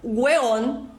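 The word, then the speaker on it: huevón: então no chilenismo o Egon pronunciado como weon e Originalmente é ebon lembra que eu falei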